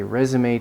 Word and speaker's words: résumé: If you want to impress people with French pronunciation, it's résumé, if you want to show off.